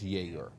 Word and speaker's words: Yegor: Because at first I was calling him Igor when I first seen the young man. And then BYU quickly let me know it's Yegor.